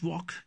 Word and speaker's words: walk: is walk talk yoke wherever we we have LK coming together in a word I'll usually remain silent or not in all the cases but usually LK wherever we have L remain silent work talk okay let's